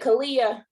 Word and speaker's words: Kalia: Is it Kalia? Am I saying it correctly? Yes.